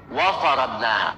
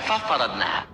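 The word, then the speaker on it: وفرضناها: Wa faradnaha, bukan fa faradnaha.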